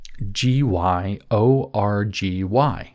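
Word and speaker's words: György: you're looking him up, Gyorgy. Gy is pronounced a bit like a J in Hungarian, apparently, and if I'm wrong, I don't care.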